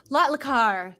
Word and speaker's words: Lotlikar: say your last name lotliker is that right is that how you say it uh yeah it's rotlikar lotlikar there i wasn't ever